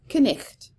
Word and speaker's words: knight: So we see words like knight, like a knight in shining armor, with several silent letters, because the Old English pronunciation of this word was knicht.